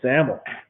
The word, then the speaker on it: SAML: i wish i knew the cool way to pronounce saml was saml during the introduction of marijuana